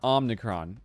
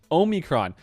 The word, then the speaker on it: omicron: what is it omicron it's not omnicron oh there's no n in there okay i'm not gonna i'm not gonna edit this out this i'll give you a video omicron my bad omicron um